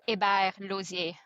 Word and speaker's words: Hébert-Losier: So yeah, it's it's pronounced Ibar Lier.